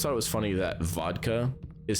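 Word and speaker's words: водка: it was funny that vodka is spelled with the cerillic character that looks like a B, but you're supposed to pronounce it as a V, but then my teacher would always call it bodka.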